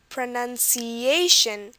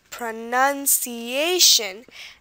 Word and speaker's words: pronunciation: we do see that aan has the most stress pronunciation and the nun has the second you know most stress pronunciation and sometimes it's like really hard to tell